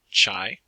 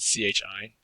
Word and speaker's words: chi: an important distinction is this is the greek letter chi it is not pronounced chai it is sometimes spelled c-h-i but if you talk